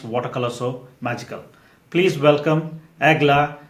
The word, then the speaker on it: Eglė: First of all, for people who know about you, how would you is there an easy way to pronounce your name? My name is Agla.